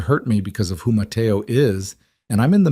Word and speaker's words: Mateo: This man, she said, Mateo. She pronounced it in the Spanish way. soft tea like she'd been saying it for years.